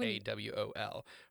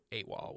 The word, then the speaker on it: AWOL: Initialism is when you say the letters AWOL, right? And then an acronym would be like AWOL when you're pronouncing it as if it's its own word.